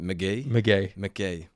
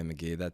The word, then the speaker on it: McGee: McGee. Yeah. Okay, McGee.